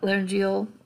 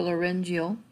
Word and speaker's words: laryngeal: with the thyroid cartilage, the laryngeal or laryngeal, depending on how you want to pronounce it, prominence, or the Adam's apple, and the arytenoid cartilage.